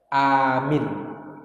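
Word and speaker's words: آمين: Bacaannya adalah amin, A-nya panjang.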